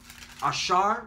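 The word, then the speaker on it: אָשֵׁר: Ashar is how you say it in the Hebrew, means happy.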